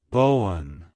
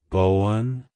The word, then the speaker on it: Bowen: rich history and strong adventurous personality traits it's pronounced as Bowen Bowen Bowen to pronounce it correctly emphasize the first syllable